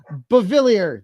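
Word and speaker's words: Beauvillier: Bavilier.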